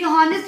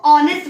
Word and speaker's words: honest: पढ़ते हैं, तो ये हॉनेस्ट होना चाहिए। तो बच्चों इसमें H साइलेंट होता है और हम इसको ऑनेस्ट बोलते हैं।